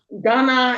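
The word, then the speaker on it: ghāna: and um ganda and one of them has the h gana and the other one is ganda. Oh right it's age kind of jumps position. It sure doesn't it right. Right. So um so for correct pronunciation it would be ghana and gandha.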